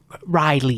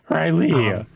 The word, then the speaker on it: Riley: it was Riley right Riley yes Riley emphasis on the second syllable got it it's very